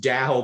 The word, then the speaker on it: DAO: organizations known as daos pronounced dow by the way uh what is this